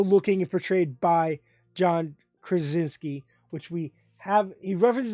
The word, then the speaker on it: Krasinski: trajinsky how am i gonna say this chris krasinski that's how you say it i have to